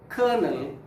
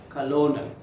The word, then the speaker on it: colonel: the indian army okay pronounce this word as kernel not colonel okay the next one